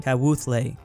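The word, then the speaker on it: Kawthoolei: place before this is where the karen spawn kat wuthlay is how you pronounce it oh man i feel so bad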